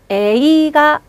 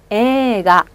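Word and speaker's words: 映画: 영화 이 부분도 에와 이를 한 번에 장음 처리합니다. 에이가 이렇게 읽으시는 게 아니라 어떻게 읽는다고요? 에가 한 번 더. 에가.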